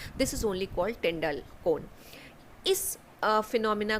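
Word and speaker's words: Tyndall: टिंडाल इज़ the correct pronunciation, लेकिन हम लोग जो लेमन लैंग्वेज में बोलते हैं इसको टिंडल इफेक्ट बोल देते हैं।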